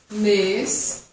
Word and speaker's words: mes: mes, ma, mon, repete comigo. Ma, minha, mon, meu, me. Não pronuncio o S, lembra que eu falei?